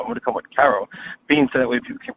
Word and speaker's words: Karobean: Because most, British people, they speak with a heavy accent. It's just Karobean. And then if you have typical Americans, they say Caribbean, right? So there's Caribbean, there's Karobean. So then I said, you